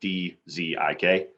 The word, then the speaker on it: Dzik: The last name is spelled DZIK. The D is silent.